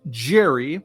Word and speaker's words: Gerry: Back in 1812, Massachusetts Governor Elbridge Jerry, and yes, his name rhymes with scary, which is oddly appropriate,